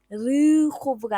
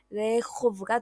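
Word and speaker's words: רחוב: 자, 마지막 단어는 길을 뜻하는 레호브인데 슈바르단 레쉬가 단어의 첫머리에 있죠. 그래서 이 슈바를 에로 읽어야 하기 때문에 르호브가 아니라 레호브가 됩니다.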